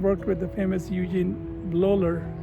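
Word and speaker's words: Bleuler: to zurich and worked with the famous eugene loller loller is how they pronounce it and he's uh is b-l-e-u-l-e-r this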